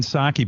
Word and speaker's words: Psaki: It's Jen Psaki, but there's silent P up front. It's a weird name. It's like if I spelled my name Howard Pstern.